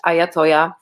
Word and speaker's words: Iyatoyah: visit my band camp it's ayatollah bandcamp i y a t-o-y-a-h is my name some people mis uh